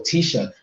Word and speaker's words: Tiesha: But Tiesha is yeah, going to be Tiesha, the yes, truth. that's how you There we pronounce go.